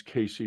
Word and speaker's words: Cayce: You know, that gets me back to the Akashic record in Edgar Cayce, or I think it's Casey is the way he pronounced Casey yeah.